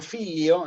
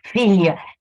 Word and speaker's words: figlio: Perdón, el filio de portugués es más cercano al filius del latín, digamos. ¿Y en ¿no? italiano? Figlio. Claro, figlio, claro. No, figlio. Se escribe figlio, pero se dice filio.